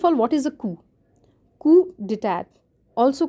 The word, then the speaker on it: coup: Coup d'etat, also called as a coup. So although there's a p there, but that is silent and it is known as a coup.